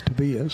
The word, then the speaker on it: Tobias: I think they told me it's Tobias, so we'll go with their pronunciation for me.